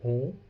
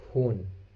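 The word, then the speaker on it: ہوں: we cannot pronounce it hoon. Okay, n is almost silent here, or this is not silent basically. This is, we are pronouncing it with nasal sound.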